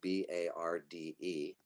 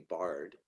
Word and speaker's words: Barde: like it might be Bard. Now that I live in Ashland, the land of Shakespeare, it definitely looks like Bard, but it's actually appropriately rhymes with party, because my last name is Barde.